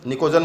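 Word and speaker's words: pnictogen: ठीक है, इस तरीके से 15 oblique fifth A oblique नाइट्रोजन family, नाइट्रोजन family का दूसरा नाम है निकोजन में P साइलेंट है, ध्यान रखना बेटा।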